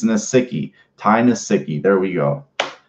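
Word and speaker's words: Nsekhe: It's Nasicki.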